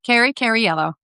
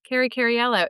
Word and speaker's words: Cariello: to be talking with Cariello. I say it wrong every time. No, you don't. You say it perfectly. Cariello. Cariello. It's got an extra syllable that I don't think it has, but it does.